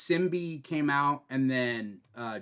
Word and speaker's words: symbiote: Oh, Symbiote.